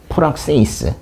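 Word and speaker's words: πράξεις: 푸 이럴러 프락세이스. 예. 여기 이제 요렇게했지만 여기 이제 요렇게 된게 크스 발음이다. 그래서 프락세이스이고요.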